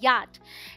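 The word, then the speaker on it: yacht: जी नहीं यहां पर सी एच साइलेंट है इसे पढ़ते हैं याच डी ई बीटी को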